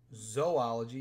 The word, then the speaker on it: zoology: One of my favorites is zoology. Even though it says zoo, it's pronounced zoo.